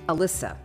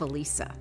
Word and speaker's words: Elisa: Miss Haley called roll, pronouncing my name Alyssa instead of Elisa.